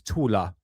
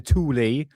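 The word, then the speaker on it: Thule: uh godsenth when see that name there that's the tus the thor society but the German pronunciation of that is tula okay the tula society people say uh the tuli or tul or tul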